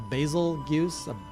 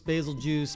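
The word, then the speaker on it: Bazelgeuse: Turns out it's, probably gonna pronounce this wrong, a basil juice. It sounds like Beetlejuice.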